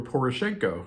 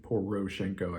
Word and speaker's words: Poroshenko: in 1996 by Petro Poroshenko, who later was the president of Ukraine. Roshan, of course, the middle part of his name. So I guess Roshan, Poroshenko, I believe is how it's said.